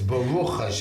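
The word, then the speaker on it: ברוך: Yes, Baruk Hashem. That's why I like that. You don't know how to say it. It's Baroo.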